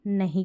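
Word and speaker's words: know: तो के वहां पर एन से पहले जो के रहता है वो साइलेंट रहता है उसका उच्चारण नहीं किया जाता तो इसको आप नो पढ़ेंगे नाउ नहीं पढ़ेंगे अगर के एन ओ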